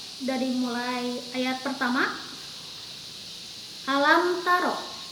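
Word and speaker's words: ألم تر: Ayah per Hai alamtaro Meme menghadapi huruf-huruf Ta ini adalah huruf dari izhar syafawi maka membacanya jelas alam taro Kaifa fa'ala Robbuka Bi ashabil fiil bukan alam tak itu adalah cara membaca yang salah kemudian ayat kedua alam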